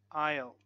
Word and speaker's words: aisle: Silent S in words like island, island, debris, and aisle, aisle.